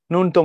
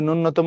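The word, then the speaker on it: ন্যূনতম: এটা বিসিএস এ আসছে ভাইয়া এটা কি নূন্যতম হবে না এটা হবে নুনতম আচ্ছা এখন দেখো আমরা কিন্তু এটাকে অনেকে জফরলা যে প্রথমেই আছে এটা ভুলে যাই আমরা নূন্যতম পড়ি না নূন্যতম অর্থাৎ নূন্য না জফলা কিন্তু আগে আছে সো নূন্য হওয়ার কোন সুযোগ নাই নূন্যতম জিএসটির প্রশ্ন পরাং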